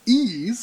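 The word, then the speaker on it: Ys: to America via video games wanders from ease pronounced ease it's interesting if they tell you how to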